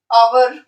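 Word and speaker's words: hour: आवर H silent है.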